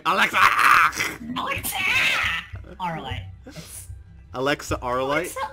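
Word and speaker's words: Auralite: Arlite. Alexa Arlite? Alexa Arlite. How do you spell that?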